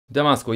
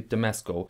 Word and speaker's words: Damasko: Damasco, yes, it's not a German word, it's an artificial word, so I think the Americans would say Damasco, maybe Damasco, and a German guy